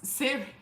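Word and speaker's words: Ceri: was, the worst was Siri. It was scary because I just, right? The worst was scary because her name is spelled C-E-R-I. So when I was reading it, I read it as Siri, and my Siri started to talk.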